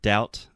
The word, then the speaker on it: doubt: that so the word doubt first of all the B is silent uh so we don't